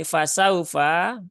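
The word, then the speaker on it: فسوف: al-qur'an ya ya ini fasaufa ya fasaufa di sini ada wau sukun yang didahului harakat fathah ya wau sukun yang didahului harakat fathah maka bacanya dia dilembutkan karena Lin itu sifatnya lembut ya au fasaufauhasabu hisab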